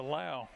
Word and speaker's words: Low: and a Warren and oh he pronounces it low and the officials trying to crank the clock and the clock won't crank there it go of the night yeah I have to apologize to Brody low I'm used to the Scott County pronunciation up around home that's a laow yeah handoff Brooks Brooks